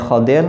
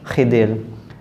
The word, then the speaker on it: Khidir: Khidir ada yang membacanya Khadir ada yang membacanya Khidir begitu juga Nabi Musa